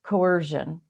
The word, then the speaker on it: coercion: to pronounce it because i always want to throw a h in this word but coercion it's the use of